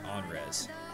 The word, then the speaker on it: Anhrez: res looks the best the H is silent I want to put the H in front the a for in front the end for some reason caught on like an ankh like on res you need to